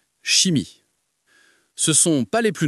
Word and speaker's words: chimie: Mais attention, il y a quelques exceptions, surtout dans les mots d'origine grecque où ch se prononce comme un que. Par exemple, dans coral ou chimie.